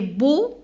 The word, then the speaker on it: beaux: Les beaux, alors EAU se prononce O.